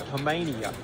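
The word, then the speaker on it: Knueppel: can get it right Nicholas Hmania the K is silentia there was a freshman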